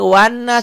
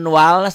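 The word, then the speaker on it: والناس: yang ini dibacanya Minal yang ini wanas jangan jangan walnas ada loh yang gitu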